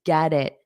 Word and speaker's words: get it: I knew you'd get it. Get it. So this T becomes between vowels, so I can pronounce it more as a soft D.